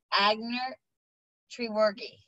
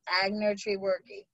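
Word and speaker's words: Aigner-Treworgy: But to the best of my knowledge and ability, the way that you pronounce your last name is Commissioner Agner Treworgi. So the G is a hard G. So you can practice that, Commissioner Agner Treworgi.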